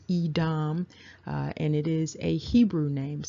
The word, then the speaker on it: Edom: And so you can see that it's pronounced Edom, and it is a Hebrew name.